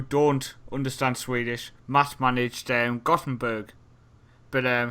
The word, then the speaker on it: Göteborg: To any people who don't understand Swedish, Matt managed Gothenburg. But how do you pronounce it, sir? Göteborg.